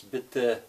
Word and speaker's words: bitte: But the thing is, that's not right. It's bitte. There's no R sound at all on the end of that.